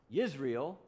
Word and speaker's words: Yisrael: But there's one more thing, because Israel doesn't, in Hebrew, they don't pronounce the letter J. So, but in Hebrew, it's Yisrael, which sounds an awful like Israel, right?